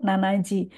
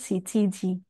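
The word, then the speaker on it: 七時: Jam 7 Shichiji. Walaupun ada juga orang yang mengucapkannya itu nanaji, tapi sebagian besar itu diucapkan dengan Shichiji.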